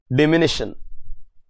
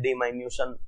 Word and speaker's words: diminution: Provision for diminution in the value of any asset. Some people pronounce it diminution. Jo tumko bolna, it is diminution, actually the correct pronouncement.